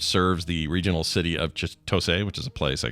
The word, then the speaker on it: Chitose: if I'm wrong, but you don't really put emphasis on any syllable. So Chitose. Chitose. As opposed to Chitose, it's like Chitose. Chitose. You put the same amount exactly.